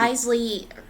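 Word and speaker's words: Wriothesley: Well, I'm Because the excited to characters learn are more about what- Risley. Risley apparently is how you say his name.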